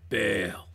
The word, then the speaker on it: Baal: worship her god named baal you gotta say it like that too baal okay jezebel killed god's